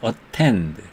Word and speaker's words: attend: 액센트가 있는 음절의 모음 앞에 T가 있을 때는 T를 다 발음한다. 그래서 attend 이렇게 다 발음합니다.